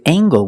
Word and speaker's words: angle: and this word angle with angle we pronounce the hard sound angle angle use the long a a angle this is